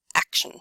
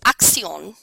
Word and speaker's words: action: until it is perfect drilling simply means jack and jack says action unless there is a huge problem with pronunciation you would move on to the next person so if the pronunciation is close enough and it's simply the accents move on to the next person if however Jack says accion which is the French pronunciation you would need to